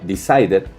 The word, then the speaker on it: decided: Lo voy a pronunciar, perdón, como si fuera una ID. Decided, ¿ok? Recuerden, no marcar mucho la pronunciación. Es una ligera pronunciación como si fuera ID, ¿vale?